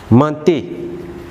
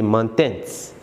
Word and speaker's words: ment: Then for vous, mentez. Then for il, ment. Remember, ENT in verb conjugation is not pronounced, so we say ment. We don't say mentens.